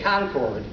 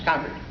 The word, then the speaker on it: Concord: it by the way I used to say Concord until I visited some friends in Boston and they said no no no no no it's concerete so that's the official correct pronunciation after that